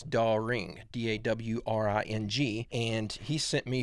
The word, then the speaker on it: Dawring: Big fan, Carlos Darwing." I think I'm pronouncing that last name wrong. I think it's Dawring, D-A-W-R-I-N-G.